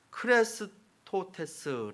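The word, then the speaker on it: χρηστότης: 제가 처음에 이야기한 것처럼 헬라어로 클래스 토 테스 라고 이렇게 발음을 합니다 그래 스토 테스 그런데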